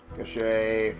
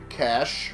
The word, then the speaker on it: cache: Got an outpost, medicine, cachet, food cachet, food cachet. Cash, whatever the fuck. You're supposed to pronounce it as.